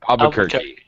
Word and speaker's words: Albuquerque: can you pronounce that? Albuquerque. Michael. You got it. Very good. Albuquerque.